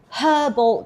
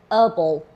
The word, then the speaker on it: herbal: Because when I pronounce herbal tea, herbal tea, herbal tea, my American friends say I'm very uneducated, I should be saying herbal herbal tea. And I'm like, "No, no, I learned my English in the UK.